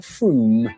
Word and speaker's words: Frome: Wrong, it's not frome. F-R-O-M-E, it should be blitheringly obvious, is pronounced froom.